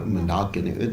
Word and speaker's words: Mandakini: your right hand, is Mandakini Ganges. Some people pronounce it Mandakini. You can pronounce it Mandakini or Mandakini. The actual pronunciation is Mandakini.